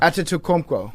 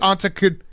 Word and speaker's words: Antetokounmpo: it up, even if I know how to pronounce it. Oh, I got it now. Antetokounmpo.